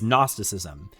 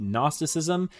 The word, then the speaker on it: Gnosticism: medieval times known as Gnosticism. Yeah, there's a solid G in there, and believe me, the name's pronunciation doesn't get better from here.